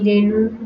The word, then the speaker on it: রেণু: এরপরে হচ্ছে ই বা রস্যকার, রস্যিকার বা রস্যকার পরে থাকলে এ সংবৃত হয়। যেমন দেখি, দেখি, রেণু, রেণু, বেলুন, বেলুন।